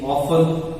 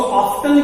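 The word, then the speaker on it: often: देते हैं, हम बोल देते हैं कि जी ऑफन, ठीक है। तो देखो इसका प्रोनाउंसिएशन दोनों ही है, कुछ लोग इसको ऑफ्टन भी बोलते हैं और कुछ ऑफन भी बोलते हैं।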